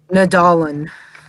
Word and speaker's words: Nadolny: And then, is it pronounced Nadolny? Nadolyn.